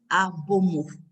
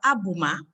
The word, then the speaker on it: Abomo: Avant toute chose, je voudrais rappeler que je m'appelle Abomo. Je tiens à ce que cela soit bien entendu. Je ne m'appelle pas Abouma.